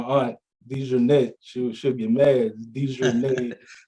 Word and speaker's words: DeJournette: DeJournette, that's how you pronounce that, Aunt Renee.